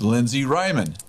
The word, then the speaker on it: Lindsey Reiman: she actually oversees our prophetic Ministry this is Lindsay Ryman hi did I get your last name did I pronounce it right yes you did because we